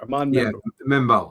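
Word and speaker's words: Armand Membou: Armand Membu, if I have that pronounced correctly. Arman Mebo.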